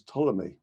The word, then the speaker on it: Ptolemy: the Greco-Egyptian scientist Claudius Ptolemy. The P is silent, as in a swimming pool.